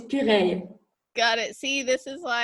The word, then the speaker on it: Puraye: thank you so much my last name is puree got it see this